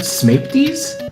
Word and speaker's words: Smaepdii: And you might notice that you have a really super high jump, as you've seen in, how do you pronounce it, Smapties? Yes, Smapty, I believe.